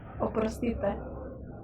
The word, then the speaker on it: Oprostite: sorry or excuse me Oprostite that is definitely like that is definitely Serbian like Oprostite yeah I know something like it sounded like a prostitute because that's how I remember it That's how I remember